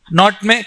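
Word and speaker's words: knot: also was asked once not k is silent k is silent they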